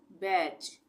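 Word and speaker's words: batch: ए टी सी एच टी के बाद सी एच है तो टी का उच्चारण नहीं होगा बैच एफ ई टी सी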